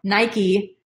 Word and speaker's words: Nike: find Nike Nike Nike I always say night guys it's gonna be a hard habit to break but I'm gonna try just someone told me that I was pronouncing it wrong so Nike storm a Nike fit